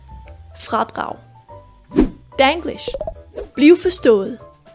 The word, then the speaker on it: fradrag: Vi starter med f som flaske r med støj på a som aldrig d som dør r med støj på igen a som aldrig igen og G Bliver til et u som ule fradrag fradrag danglish Bliv forstået